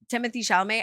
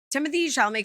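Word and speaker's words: Timothée Chalamet: I don't have a French accent the Tim Timothy shalamay and all I remember this is a core memory unlocked is like Timothy shalamay comes from like a famous family and like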